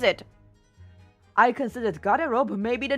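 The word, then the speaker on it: гардероб: Yeah, because like if I were to just pronounce what I see here, it would be like tap a pope. One sec, woman. Thanks. Thank you. It's really interesting that they garderobe.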